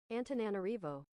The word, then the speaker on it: Antananarivo: Antananarivo pronunciation. How the fuck do you say this? Antananarivo.